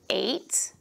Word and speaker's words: eight: that you'll all know you have the number eight we don't hear the G H and eight we have the word